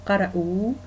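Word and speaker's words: قرؤوا: Au pluriel masculin, hum qara'ou. Donc en fait ici on a ce qu'on appelle alif orthographique, donc en fait qui s'écrit et ne se prononce pas.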